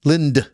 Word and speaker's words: Lind: Linda, Lynd. How did you fit 2 syllables in 4 letters? Linda. I'm like, Lind. No, it's not. It's Lind. Lind. One syllable.